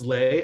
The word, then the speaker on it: Le: It spells L-E. But it's pronounced Lay, as in legendary, as in legacy, or legitimately your best friend in this journey.